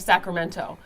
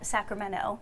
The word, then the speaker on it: Sacramento: But what I loved about their conversation was the discussion about the accent of Sacramento.